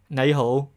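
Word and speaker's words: 你好: In Cantonese, you can pronounce it nei hou.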